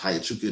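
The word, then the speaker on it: Huachuca: Her work with the Gray Ladies in Fort I think it's pronounced Hayachuca in Arizona.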